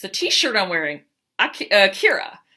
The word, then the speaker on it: Akira: Akira. Or Akira, that's how they pronounce it in Japan.